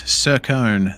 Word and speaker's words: Sircone: Yes, Sircone, that is how you pronounce his last name.